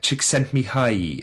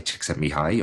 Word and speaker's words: Csikszentmihalyi: Csikszentmihalyi, I believe, is the correct pronunciation of The flow bloke.